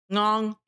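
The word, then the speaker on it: ngon: in regards to food, you say long. So, long is the good part. It's spelled NG O N. Uh, no accents, uh, marks or whatever. Ng o n. The ng.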